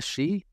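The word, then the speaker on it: sidh: A she? It is spelled S-I-D-H traditionally, but it is also, you can hear that little tiny root in the creature Banshee.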